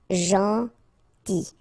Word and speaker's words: gentil: Gentil. So it's a strange one because here this final L is not pronounced. Okay? Gentil. Gentil. Tard.